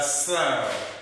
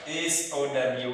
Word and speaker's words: sow: If you mean pigs, then you forget about your so and you pronounce it differently.